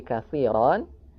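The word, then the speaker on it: كثيرا: Sehingga ketika kita berhenti di katsiron berubah menjadi katsiro. Rnya dibaca dua harakat sehingga bacanya seperti ini.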